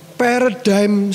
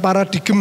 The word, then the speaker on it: paradigm: Hari ini temanya adalah paradigm shift. Apa itu? Bukan paradigm ya bacanya paradigm.